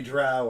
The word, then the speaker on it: drow: he's not a And dirty, so- dirty drow or a dirty, dirty dwarf. No, he's a sun elf. It's pronounced Dro.